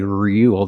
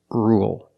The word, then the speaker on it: rule: let's talk about rule with rule we don't say real there's no it's just Rue dark El rule example you need to